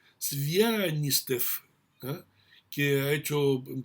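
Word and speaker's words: Звягинцев: casi imposibles de pronunciar, Svianastev, o mejor dicho, Svianistev, ¿ah?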